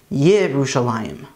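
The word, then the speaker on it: ירושלים: j and with this knowledge you can now pronounce a number of hebrew words so for example the city of jerusalem is actually ye rushalim the city of jericho is and the jordan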